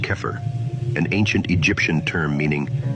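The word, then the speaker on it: Xeper: temple of set is Zipper pronounced keer an ancient Egyptian term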